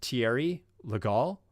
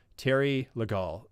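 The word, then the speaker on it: Thierry Legault: best resolution um and i think it's pronounced thierry legal um i don't know how to pronounce it in french i took one semester of french and it's not anywhere near perfect uh but terry legal um i believe is his name and he's amazing so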